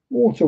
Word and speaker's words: water: We just don't pronounce the T.